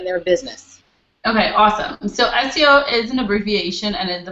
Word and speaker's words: SEO: and they call it CEO what they pronounce out the word but it's really an abbreviation that's why we say SEO and it stands for